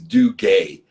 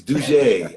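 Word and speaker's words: Dougé: read that i said there's no way d-o-u-g-e is due gay it's dougie i knew it nick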